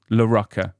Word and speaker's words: Laracca: It's I always say it's Morocco with an L. Laracca.